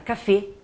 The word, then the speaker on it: café: Segunda coisa, o acento agudo, ele fecha o som. Exemple, um exemplo. A palavra café, que se escreve igualzinho em português, em francês, mas vocês vão pronunciar café.